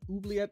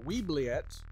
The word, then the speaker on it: Oubliette: gonna try and do oobleet of light uh i didn't know how to say this word until this morning i was calling it uh weebliet uh because i think